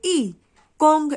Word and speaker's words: 一共: लिखा हमने दोनों पहले टोन में है, लेकिन उच्चारण करते वक्त इसकी टोन गिर जाएगी, चौथी टोन ई कोंग ऐसे हो जाएगी।